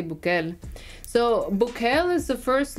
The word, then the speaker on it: Bukele: In Spanish, you would say Bukele.